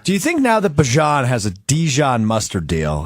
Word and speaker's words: Bijan: I don't get So his name is Bajan. It kind of rhymes with Parmesan.